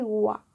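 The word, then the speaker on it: は: Hop, là il y a un exercice. Et ensuite on passe au H. Alors, le A ne se prononce pas A, il va se prononcer wa.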